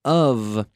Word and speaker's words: of: So when we have the O-F of, the F is pronounced like a V.